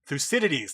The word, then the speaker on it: Thucydides: I'm going to try to pronounce this. I'm going to butcher this Greek name. Thucydides? Thucydides? Thucydides, thank you.